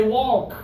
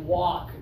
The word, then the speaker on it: walk: too much they say walk and it's like that's not the way you do it it's walk like rhymes with sock rhymes with talk which also has an L A for this one